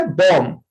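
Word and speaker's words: bomb: इसी तरह से बॉम्ब. BOM बॉम्ब. बॉम्ब नहीं, बी साइलेंट.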